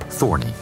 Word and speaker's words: Thorne: He changed his name to Larry Thorne, although he preferred the hybrid pronunciation Thorny.